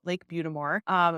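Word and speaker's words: Lake Butte des Morts: And that is pronounced Lake Butamore.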